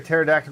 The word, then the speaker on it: pterodactyl: Why can't you hear a pterodactyl go to the bathroom? The P is silent.